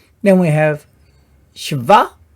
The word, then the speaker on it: Sheva: Then we have shva, shva. This is like a syllable divider, you could say.